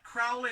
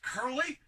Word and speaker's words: Curley: It's not Crowley, it's Curley. So Curley.